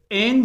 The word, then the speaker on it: an: उसी तरह से ऑन जो है ये हमारा वीक फॉर्म है, उच्चारण का वीक फॉर्म। और एन जो है ये हमारा स्ट्रॉन्ग फॉर्म हो जाता है, स्ट्रॉन्ग फॉर्म। चीजों को समझते हुए चलना है। जैसे अगर मैं कहूं this is on Apple, this is on Apple, इसे अगर एप्पल को एम्फेसिस करना हो, जोर डालना हो, तो यहां पे इसे ऑन का उच्चारण एन कर सकते हैं।